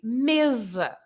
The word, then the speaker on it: mesa: S, in Spanish, and they are pronounced with Z in Portuguese.